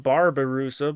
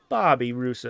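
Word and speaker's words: babirusa: I've been pronouncing them because I thought they were pronounced barbar rusa but no there's are there it's a Bobby rusa A Bunch of Baby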